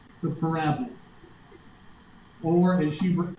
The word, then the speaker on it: parabola: She said, now, Hubert, she said, I know you're from around here, but parabola is not the way you pronounce it. It's parabola.